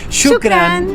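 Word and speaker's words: شكراً: Así que ahora nos despedimos con esta hermosa palabra árabe que significa gracias y que se pronuncia Shukran.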